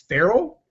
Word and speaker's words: Farrell: So I want to welcome to the show Dell Farrell, like Will Ferrell.